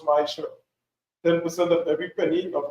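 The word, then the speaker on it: מעשר: Means 10 in Hebrew, and it's pronounced Ma'asher.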